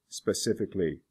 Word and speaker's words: specifically: The A-L is not usually pronounced. For example, basic, basically, specific, specifically, public, publicly.